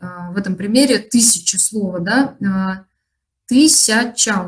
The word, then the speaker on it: тысяча: Во втором слоге буква «я», когда мы поем или когда мы говорим, этот слог «ся», он безударный, поэтому у нас произносится «си», «тысяча» мы говорим.